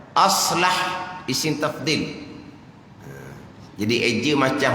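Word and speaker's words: أصلح: Satu lagi tu aslah alif sad lam ha. Nak je gitulah. Bukan alif sad lam alif ha, bukan. Bukan islah gitu, bukan. Aslah isim tafdil.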